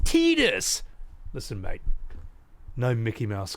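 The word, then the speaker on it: Tidus: asked everyone, "Hey, how how's Titus pronounced again? Is it Titus or Tetus? And they were like, "Oh, it's Tetus."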